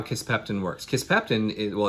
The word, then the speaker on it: Kisspeptin: the beginning of my geek out session for kiss pectin it's a new polypeptide hormone that I'm really